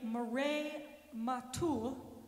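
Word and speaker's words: Mireille Mathieu: but in 1982 a famous French singer named Murray matul it's not spelled that way but I looked up the pronunciation made it Famous by singing New York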